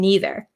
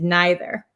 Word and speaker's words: neither: So my pronunciation as an American from Wisconsin, I say either and neither.